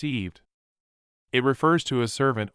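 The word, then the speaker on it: עבד: to one's enemies slaves the Hebrew word is pronounced eved it refers to a servant or a slave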